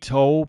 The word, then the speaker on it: Toal: Tanner, my Twitter is at Toll, and my last name is spelled Toal. So it's all one word, Toll.